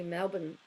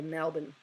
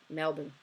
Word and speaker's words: Melbourne: born, but we go Melbourne. So it's like it's M, so if you were to spell it out, you pronounce it M-E-L-B-I-N, Melbourne.